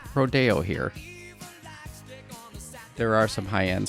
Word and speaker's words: Rodeo: cowboy sport and then i kind of thought rodeo and then also siri when i was looking